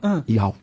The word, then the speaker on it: YAUH: Como escreve Iau? O Iau é I-A-I... Dá uma caneta aqui. Caneta, por favor. Não, Y, tá? Tá, Y-A-U-H. Y-A-U-H. Iau.